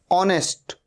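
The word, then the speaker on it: honest: अवर अवर मतलब घंटा ऑनेस्ट ओ से शुरू हो रहा है साउंड हा का साउंड नहीं ए रहा है ऑनेस्ट मतलब ईमानदार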